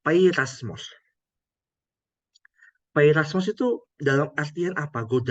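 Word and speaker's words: πειρασμός: Kata Yunaninya itu bacanya ini, Ibu Bapak, peirasmos.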